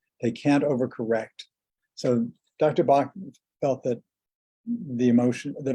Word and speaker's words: Bach: Edward Bach, he was actually Welsh, and the Welsh pronunciation is not like the German pronunciation, it's Bach. But I still refer to the remedies as the Bach Flower Remedies.